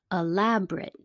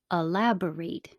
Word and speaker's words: elaborate: aggregate aggregate articulate articulate elaborate three syllables elaborate four syllables moderate moderate duplicate duplicate